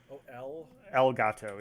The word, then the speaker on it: Elgato: dollars did you say algato yeah like how do you spell that um like spanish for the cat elgato yeah gato okay i